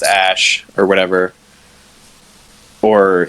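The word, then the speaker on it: Æ: The AE symbol is pronounced Ash or whatever.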